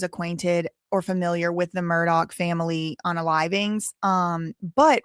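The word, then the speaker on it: Murdaugh: And I watched the whole entire two serieses of the Murdoch Murdoch that's how you say it.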